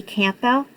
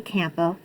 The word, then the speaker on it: Campbell: I say Campbell because there's a P there. Just curious. Because I get made fun of all the time for actually pronouncing the P in Campbell.